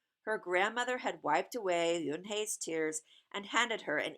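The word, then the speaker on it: Unhei: It's spelled U-N-H-E-I. It's pronounced Eunhae. "Oh, it's you, hey," the boy said, like, "You, hey, what about hey, you?"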